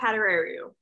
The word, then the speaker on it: Padurariu: future ucla bruin and canadian olympic hopeful anna padaro i hope i pronounced that right now that was pretty good